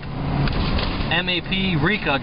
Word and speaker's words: Maprika: The iPad app is called Maprika, just like paprika, right?